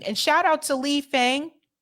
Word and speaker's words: Fang: shout out to Lee Fang I think it's pronounced Fong Lee Fung shout out to Lee